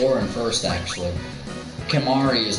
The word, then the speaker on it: Kimahri: At least his name rhymes with sorry.